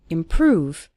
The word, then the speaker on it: improve: seeing your English improve stress on the second syllable improve over time you'll start